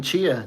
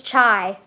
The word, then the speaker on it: chai: a chai latte they can't keep seeing Chia Chia it's chai It's it's chai I don't know I